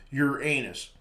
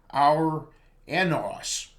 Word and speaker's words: Uranus: better pronunciation would be our anos which is close to the ancient Greek word it came from perhaps the correct pronunciation is Ure unus however his Discoverer William